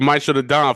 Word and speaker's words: Maestro Da Don: Yeah, Maestro Da Don. Maestro Yep. Da Don got you. Maestro Da Don for sure, for sure.